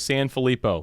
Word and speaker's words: Sanfilippo: and only alex sanfilippo did i pronounce that correctly or today so close san felipo no one ever gets it right but that was like i would give that a pass that's definitely a b plus right there good job i should